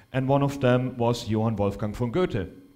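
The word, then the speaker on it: Johann Wolfgang von Goethe: one of them was Yan wolfang f g or guy as Americans pronounce him and he was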